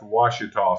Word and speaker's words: Ouachita: And Ouachita, for those of you that aren't right here in this area, is spelled O-A-C-H-I-T-A. That's Ouachita. So if you're scrolling down looking for a W, you're going to be disappointed. You need to look for an O.